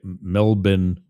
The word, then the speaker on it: Melbourne: Melbourne, that's how it's pronounced.